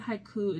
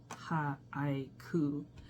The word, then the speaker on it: haiku: The word haiku itself counts as two syllables in English but three sounds in Japanese counted as haiku.